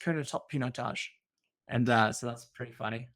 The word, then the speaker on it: Pinotage: We hit the 3-minute mark, and so Roloff goes very good, but it's pronounced Pinotage, and so that's pretty funny.